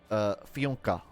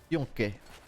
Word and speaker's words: FUNKe: My name is pronounced FUNKe. FUNKe. It's pronounced like there are two dots over the U.